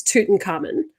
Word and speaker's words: Tutankhamun: carmen um another one another pronunciation thing i did look pretty much all of the uh pronunciation either videos or the phonetic spelling it is toot and carmen however i watched a national geographic documentary on disney and they would say tutankhamun which just didn't sit with me it does